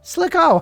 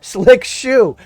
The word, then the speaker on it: Slick Shoe: I saw Slick Ho. And unfortunately I missed that other S, and now I feel like a total fucking shitbag.